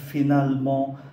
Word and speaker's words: finalement: Qu'est-ce qu'on fait finalement cet après-midi? Âm ơ ở giữa hai âm tiết, âm này không có phát âm.